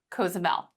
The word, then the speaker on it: Cozumel: just got back from, which is Cozumel. That's how I choose to pronounce it.